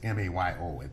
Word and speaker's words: Mayo: Yeah, the Mayo study is M-A-Y-O. It's as though it should be pronounced Mayo.